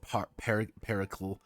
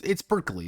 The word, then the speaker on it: Perkele: video where they said Pericle. Yeah, Pericle, Pericle, you know, Pericle. Yeah, it's Perkele. That's all I want. That's all I pronounce it as.